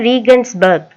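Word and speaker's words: Regensburg: ராட்டிஸ்பான்ங்கிறது வந்து ஜெர்மன்ல என்ன சொல்றாங்கன்னா ரீஜன்பர்க், அதாவது ரீகன்ஸ்பர்க் அப்படின்னு சொல்றாங்க. City in Australia. இதை எப்படி ப்ரொனவுன்ஸ் பண்ணணும்னா ரீகன்ஸ்பர்க். You know we French storm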